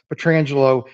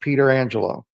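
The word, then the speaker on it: Pietrangelo: a goalie and he he told people to pronounce it that way he want even even though he said it was normally pronounced petrangelo he wanted his name pronounced Peter Angelo trying to get there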